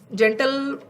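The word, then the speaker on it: gentile: And then we have the word जेंटिल, meaning इसको पहले वाले का उच्चारण करोगे जेंटल, एंड the next word is जेंटिल।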